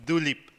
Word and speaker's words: Dilip: so my name is Dilip don't try to pronounce my second name first name may be okay it's like the flower tulip right but with a DS so it's do leap right so second name